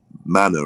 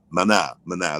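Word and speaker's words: Maná: group is it map i can never pronounce it man manor or manu or mana mana that's it and they're like they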